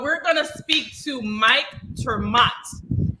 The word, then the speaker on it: Ter Maat: gonna speak to mike termat he said to pronounce it as m-o-o-t or m-o-t so that's what i'm doing i'm hoping i'm saying it correctly and uh he's the libertarian who's running for district 20.